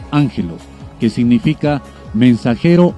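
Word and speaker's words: ἄγγελος: términos griegos a saber aggelos pronunciado ángelo que significa mensajero o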